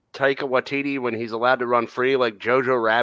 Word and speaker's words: Taika Waititi: Taika Waititi. Yeah. Okay, I pronounced it right then.